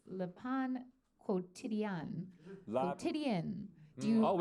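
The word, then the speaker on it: Le Pain Quotidien: Is it La Pan Quante Dang? Yeah. Dang. Although there's a new trick that Carney taught me, so it's Le Pan Quotidien.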